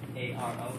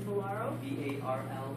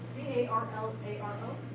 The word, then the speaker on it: Barlaro: Last name is Valaro, Barlaro. If you Google my name, Are you here? Did I spell it right? Can you see it? And then Valaro? Barlaro. B-A-R-L-A-R-O?